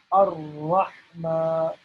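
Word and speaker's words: الرحمن: And the reason why there are two R's here is, you guessed it right, because we need to pronounce the letter R twice. So Ar-Rahma, Ar-Rahma, and then this H is a special H, okay?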